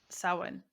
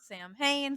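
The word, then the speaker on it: Samhain: Uh, anything else we need to know about Sin? Sew saw Sam Wayne Sam Sin. So that's we'll we'll make that our our last fun fact about Sawin is some people do pronounce it Sam Hayne.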